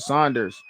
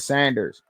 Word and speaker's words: Saunders: I believe you pronounce it Saunders instead of Sanders.